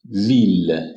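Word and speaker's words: ville: میشه ایل خونده نمیشه مگر برخی از استثناها مثل خود مثلاً ویل لویل به معنی شهر لویل به معنی شهر ایل تلفظ میشه ولی خب در اکثر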